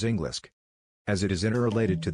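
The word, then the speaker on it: Englisc: In the olden era of English, the word English is pronounced as Englisk, as it is interrelated to the Angle tribe's place, called as Angle, which is the origin of Anglo-Germanic tribe.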